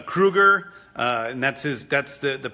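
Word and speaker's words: Krugarr: It's Kruger, and that's the pronunciation of that character's name, who's a sort of sorcerer from another planet.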